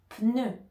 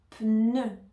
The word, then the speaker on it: pneu: était en bas ici pour le E on va mettre la langue au milieu E pneu pneu peneu pneu pneu pneu